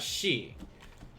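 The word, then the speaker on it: し: also get this kanji both of these are pronounced as she one of these equals four the other one equals death because of this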